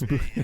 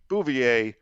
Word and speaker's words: Bouvier: Miss Bouvier. Most of my family pronounces it that way, actually. They've Americanized it. I've moved on to doing it the more correct French way, because I've had jobs